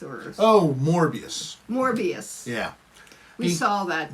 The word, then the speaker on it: Morbius: you don't even remember uh moribis or oh morbius morbius yeah we saw that we saw that